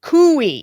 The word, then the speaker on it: Coie: Coie. Very good, Coie. Yes, I learned that because I mispronounced their name last week on this podcast.